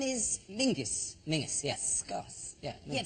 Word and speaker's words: Menzies: Yeah, Yeah, but it's pronounced, it's spelled M-E-N-Z-I-S. Yes. Well, why are you looking at me like I'm insane? That's Menzies. Menzies. Yeah. John Menzies. Menzies. People don't go, let's go to John Mingus.